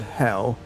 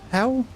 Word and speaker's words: Hel: Old North Hell, hidden one uh pronounced like the English word hell is the most general name for the underworld where many of the dead dwell.